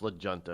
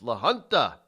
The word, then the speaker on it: La Junta: De La Junta Colorado I know it's not pronounced legenda it's La Junta or lawanda Colorado has elected a new